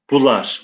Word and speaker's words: bular: Geçti mihnetle bular, yani bunlar. Yani şu an biz bunlar diyoruz fakat eski telaffuzu bular.